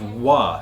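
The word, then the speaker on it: は: used in place of wa. So when we see a word that is pronounced wa, but it's spelled ha as a particle, we're using this ha right here.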